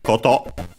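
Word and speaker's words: こと: Then we have Cotto accented on the last syllable which as we have mentioned before is a thing as in matter and so also fact.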